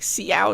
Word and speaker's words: Xiao: It's not There's no H in there. It's not shao, guys. It's xiao. Yeah. It's like the the s sound.